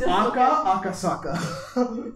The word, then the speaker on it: Aka Akasaka: The name of the author is Aka Akasaka.